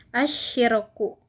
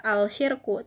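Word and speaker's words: الشِّرْكُ: Nah, di sini hukumnya adalah alif lam syamsiyah. Karena huruf alif lam bertemu huruf syamsiyah yaitu shin. Dibaca idgham atau masuk ke shin. Jadi asyirku, bukan al-syirku tapi asyirku.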